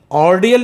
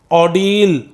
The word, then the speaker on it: ordeal: ऑर्डियल नहीं पढ़ेंगे, the pronunciation is ऑर्डील.